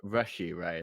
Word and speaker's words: Rashee Rice: Yeah, this is the first Rasheed Rice game. Okay, I'm picking the Chiefs then. Say his name, fine, real quick. Rashee Rice? Rashee, right? Yeah, Rashee Rice.